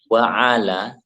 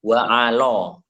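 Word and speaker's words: وعلى: Nah, dikata wa ala, jangan sampai salah, jangan sampai dibaca wa alo. Ini o atau alif bengkok, bukan bacanya o, tapi a, karena di sini peranannya sama seperti apa?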